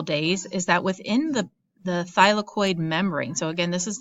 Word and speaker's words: thylakoid: structure is called a thylakoid it's pronounced by as in like your thigh of your leg lacoya and it's actually